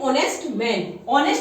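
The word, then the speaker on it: honest: एन ऑनेस्ट में भी एच हमारा साइलेंट रहता है, तो हम इसको प्रोनाउंस करते हैं ऑनेस्ट.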